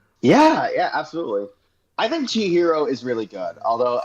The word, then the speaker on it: Chihiro: I think Chihiro is really good. Although every time I see that title, I keep mispronouncing it as Chiro and all I do is think about that.